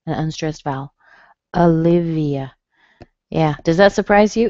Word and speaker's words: Olivia: Olivia. Yeah, does that surprise you? It looks like it should be O, doesn't it? But it sounds like a schwa.